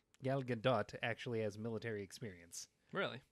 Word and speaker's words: Gal Gadot: a cool character like though so it means gal gadot that's how you say her name by the